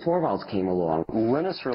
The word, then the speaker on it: Linus: And that's when Linus Torvalds came along. Linus or Linus? What's exactly your preferred pronunciation?